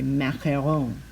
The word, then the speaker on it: macaron: coloring a lemon macaron in french at least they say macheron which is not easy to say but i did look it up and i did ask siri how do you say it in french and i listen to it repeatedly and that's what it sounds like so there you go now